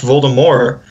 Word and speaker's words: Voldemort: Like, just for example, that one time when she came out with the article saying that Voldemort was actually supposed to be pronounced without the T.